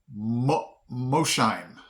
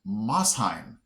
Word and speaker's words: Mosheim: The first one is, I would have pronounced this Mosheim. Okay? That's a city in Tennessee, but it's really pronounced Mosheim. Okay? I didn't, I would have put the SH in the beginning syllable, like Mosheim, but it's Mosheim.